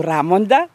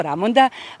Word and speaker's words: Ramonda: meni mnogo sviđa, ili da kažem kako se izgovara na srpskom jeziku, Ramonda, bolje, jer je to akcentovanje pravo, Ramonda.